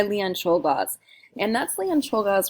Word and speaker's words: Czolgosz: And that's Leon Czolgosz right there. I think I'm slightly mispronouncing his name.